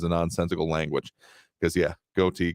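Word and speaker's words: ghoti: nonsensical language because yeah goatee can be pronounced as fish if you take it from like enough and anyway I won't get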